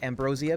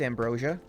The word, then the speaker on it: Ambrosia: He pronounces it Ambrosia because he's British, but it's Ambrosia.